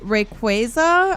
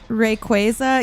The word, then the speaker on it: Rayquaza: How do people say it? I think it's re rayquaza. I think people say. Isn't that what people say? Rayquaza or something? How do you guys pre pronounce that? Rayquaza.